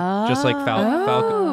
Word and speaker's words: Faucon: Just like Falco. Because Falco had, her name had an N at the end still, right? Yes. Yeah. Because technically it's Falco. So you adopted the silent N as well.